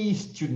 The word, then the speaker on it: student: Student, né? Começando com E, não é? Começando com o som da cobrinha mesmo do S.